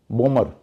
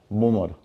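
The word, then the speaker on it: bomber: याद रखना है कि जब किसी शब्द के अंत में एम और बी हो तो बी का उच्चारण नहीं करना है।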